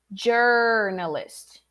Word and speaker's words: journalist: correct form okay so don't say he's a journalist or journalist or joe closing the o very much journalist all right it's in the middle of the o and the a ger ger you close the lips okay not ja but it's in the middle there journalist repeat journalist also the l there is the american l or the the english l not li lee all right like um